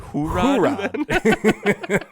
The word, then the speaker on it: J-Rod: So Julio Rodriguez, who they call J-Rod, which is confusing because you don't pronounce the J like the J. So it'd be like Hoorod. That's how I'd say it.